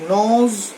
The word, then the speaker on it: gnaw: Hour আপন hour, ঘন্টার পর ঘন্টা, হি নজ দ্য রামলিং টাম্বলিং স্টোনস, ঘন্টার পর ঘন্টা সারাদিন ধরে সে গর্জন করতে করতে, ন মানে হচ্ছে GNAW, ন উচ্চারণটা হচ্ছে, জি এর উচ্চারণটা হবে না, ন মানে হচ্ছে রাগে গড়গড় করা।